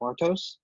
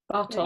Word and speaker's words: Bartos: Bartos. Bartos.